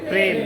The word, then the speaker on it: প্রেম: আমরা বলি প্রেম, কি হবে? প্রেম।